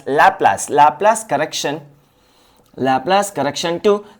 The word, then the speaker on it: Laplace: correction to Newton's formula laas LA or laas it depends on you so I pronounce as lapas lapas correction lapas correction